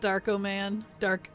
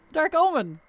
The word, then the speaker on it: Dark Omen: I got Darko Man. Darko Man? What? It's Dark Omen. Like Omen.